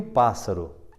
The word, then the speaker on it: pássaro: de três sílabas né Qual é a sílaba mais forte é a última ur